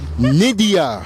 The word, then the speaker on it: Nydia: you got two y's no one y n Nidia Nidia what what what is that what's the origins